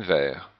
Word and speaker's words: verts: Il faut manger beaucoup de légumes verts. Il faut manger beaucoup de légumes verts. Donc le T en fait ne se prononce pas non plus au singulier et non plus au pluriel.